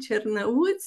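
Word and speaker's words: Cernăuți: Il est parti de Tnout que je sais pas comment on l'appelle en français mais Tiernaut. C'est un romain, on dit Chernaut.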